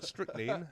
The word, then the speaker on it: strychnine: flavours, but they all have a dose of strychnine, or strychnine, as it's actually pronounced, served in the Kool-Aid.